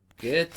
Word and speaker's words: Goethe: And this is something that both Isaac Newton and Johann Wolfgang von, oh, you all know how to pronounce his last name by now, don't you? Goethe.